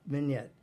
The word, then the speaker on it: vignette: And it's pronounced like vignette.